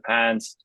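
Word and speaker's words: PANCE: want to take the pants exam uh it's spelled p n CE not pants like the pants you wear but that is our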